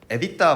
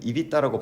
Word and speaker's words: EBITDA: 자 그 다음에 이제 에디터 많이 들어보셨죠 사실은 입이 따라고 발음해야 된다고 하더라고요 이걸 왜 봐야 되냐